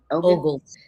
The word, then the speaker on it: Ogles: How are you pronouncing his name? Ogles.